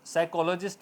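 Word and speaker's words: psychologist: इस तरह साइकोलॉजिस्ट, तो साइकोलॉजिस्ट बोला जाएगा, P साइलेंट रहेगा।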